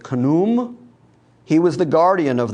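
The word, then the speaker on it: Khnum: of the egyptian gods the great god it's k-h-n-u-m in english letters i'm going to go with kunum he was the guardian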